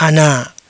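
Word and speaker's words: أنا: Ini dibaca sebagai " ana", yang berarti "saya", oke.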